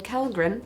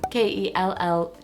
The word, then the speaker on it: Kellgren: And then Kellgren, Kellgren. It's Swedish and I pronounce it incorrectly.